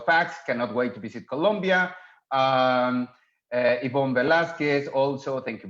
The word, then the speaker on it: Colombia: just be careful because it's Colombia, the proper pronunciation, the proper name.